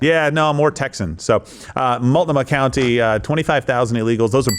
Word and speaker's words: Multnomah: Multnomah. Yeah, it's an Indian accent. Yeah, no, more Texan. So Multnomah County, 25,000 illegals.